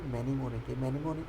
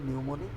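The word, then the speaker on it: mnemonic: মনে রাখার কৌশল: ম্যানিমনিক অর্থ হচ্ছে মনে রাখার, নিউমোনিক, এটার উচ্চারণ হবে নিউমোনিক, এটার অর্থ হচ্ছে মনে রাখার কৌশল।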